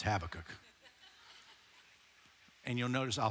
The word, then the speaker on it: Habakkuk: Some of you say, well, I learned it as Habakkuk. You can say it any way you want. But if you want to say it right, it's Habakkuk.